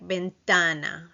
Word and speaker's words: ventana: The letter T is with your tongue between your teeth, like ventana.